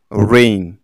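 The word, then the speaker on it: rain: যেমন রেইন, এখানে দেখো রা, এই, না, রেইন।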